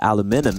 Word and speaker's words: aluminum: And then the Brits started calling it aluminium. And because Americans are always wrong, people assume that aluminum is wrong. But aluminum is actually technically, scientifically, the correct way of pronouncing it, if I'm not mistaken.